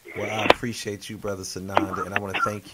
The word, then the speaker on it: Tsanonda: Just please make sure you add the T on the front. It is silent. Tsanonda.